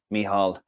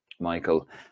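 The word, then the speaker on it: Mícheál: Although he says Michael. Myself and Jeff Stelling spent a cracking week with Michal. Sorry, I'm reading it phonetically. Michal, as he educated us on the GAA.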